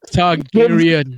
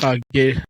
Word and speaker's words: Targaryen: How to pronounce her name? The nearest Targaryen. Yes, Daenerys. the Queen of Dragons. No. You gotta say it correctly. The nearest Targaryen.